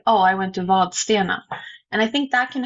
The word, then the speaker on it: Vadstena: place around here called Vadstena and it is spelled with a D in it, it has never been pronounced with a D in it.